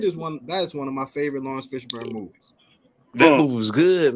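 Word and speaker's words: Laurence Fishburne: It's Morris Fishburne. How you say his name? Lawrence Fishburne.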